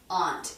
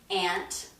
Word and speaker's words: aunt: I know that aunt is not the #1 pronunciation for that word. Most people pronounce it aunt. I use aunt. So let's look. Mom, aunt, ramen. They all have that ah vowel.